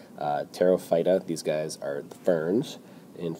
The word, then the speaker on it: Pterophyta: today is division pterophyta the p is silent like in pterodactyl terophyta these guys are ferns